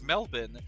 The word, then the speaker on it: Melbourne: to identify Australians uh they pron pronounce Melbourne as melbin they think it's it